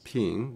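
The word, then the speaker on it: 瓶: and peace because the vase in Chinese it's pronounced as ping which means peace and here we have a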